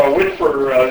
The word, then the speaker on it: WSPR: So WSPR, the original acronym stood for Weak Signal Propagation Reporter. But it was nice that it had a pronounceable acronym word, WSPR, and we talk about whispering around the world using low power, quasi-beacon-like transmissions.